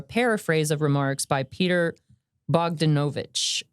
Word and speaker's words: Bogdanovich: time are a paraphrase of remarks by Peter Bogdanovich. Bogdanovich.